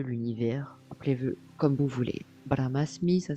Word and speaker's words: Brahmasmi: le tout Dieu l'univers appelez comme vous voulez bramasmi ça s'écrit B R a h M a s